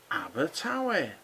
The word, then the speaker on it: Abertawe: This one is pronounced Abertawe.